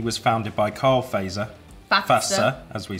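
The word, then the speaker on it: Fazer: So we've been saying Faser, and this says Finnish pronunciation is Fatsa.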